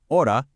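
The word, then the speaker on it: hora: The H in the Spanish word for time or hour, ora, is entirely silent. You literally don't pronounce it at all.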